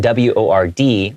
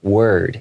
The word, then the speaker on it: word: Okay, so word, W-O-R-D, word. It's kind of pronounced like an E-R, word.